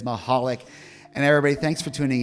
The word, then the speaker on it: Michalik: There is no C pronunciation in her last name. It is not Michalik. It is Mahalik.